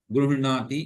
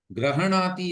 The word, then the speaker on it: गृह्णाति: यदि दक्षिण भारतीयम् उच्चारणं करोति चेत् गृह्णाति गृह्णीत एवं भविष्यति। अन्यथा वयं तु ईकारं वदामः। अस्तु, मुख्यम् अस्ति तत्र ह इति अर्धः वर्तते, हलन्तः अस्ति, अतः गृह्णाति। ग्रहणाति अथवा गृह्णाति हकारे अकारः न स्यात्, माने ह को